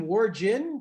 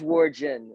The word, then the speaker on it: Wargen: Steve, Jeremy, is your name Wargin? Because I always thought it was Wargin. It is Wargen. It is Wargen. Everybody pronounces it Wargen, so I don't ever get bothered by it, but it is Wargen.